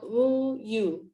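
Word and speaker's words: 우유: It is called woo-yu in Korea. You say it like you're saying a lot of O's in the first letter, and then adding a Y in front of the O's to make woo-yu.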